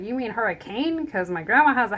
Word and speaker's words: Hurricane: Or Hurricane. St. George. Is it pronounced Hurricane? It's Hurricane. Really? Mm-hmm. I did not know that. Okay. It looks like hurricane, because that's how it's spelled, but it's Hurricane.